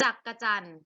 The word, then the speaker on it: จักจั่น: มาก เก่ง มาก ๆ ว่า จักจั่น อ่าน ว่า จักจั่น ไม่ มี สระ อะ เหมือน กัน นรก เสียง มามี้